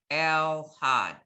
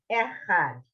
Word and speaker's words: Echad: Yisrael Adonai Eloheinu Adonai Elhad. No, last word. No lamed. El Had. Had. You're putting an extra letter in. El There's no L sound. Echad.